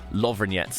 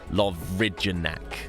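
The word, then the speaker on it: Lovrijenac: lovinget by the way I know when you sit on paper that seems like completely the wrong pronunciation our croat guide who took us kayaking made a point of explaining the pronunciation and so I'm probably still not doing it quite right but it is lovingets and not like love ridgenack okay so just in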